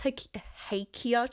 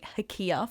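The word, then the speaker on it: hakea: um we had this hakia tree I'm only just learning how to say the word properly because we've been calling Ikea for so long sounds cool though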